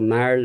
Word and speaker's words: marl: And perhaps because of the pronunciation, the very strong emphasis on the R, marl, somebody thought it was marble.